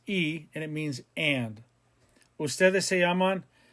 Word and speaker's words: y: use the word y which is e the letter y igrega is pronounced e and it means and